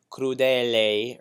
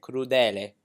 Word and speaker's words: crudele: word of the song you don't want to say clue they LA or something like that you want to make sure that you're not doing a diphthong so you would say kuru then it instead of clue that a you don't want